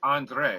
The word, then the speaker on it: André: And it's André, right? Well, yes. Okay. The long E is a long A sound, right?